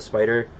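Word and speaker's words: Spyder: Spider brand? Spider, yeah. Spelled like SPY.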